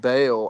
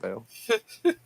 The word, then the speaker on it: Baal: Uh, a priest of ball or I think it's pronounced Bale, but people disagree. But a priest of Baal, I don't know if he had priests, actually.